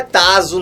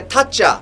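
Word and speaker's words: 타짜: não é Tazo, não é Taza, a pronúncia é Tatja.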